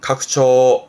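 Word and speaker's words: 拡張: 이게 확장, 발음은 각초, 각초.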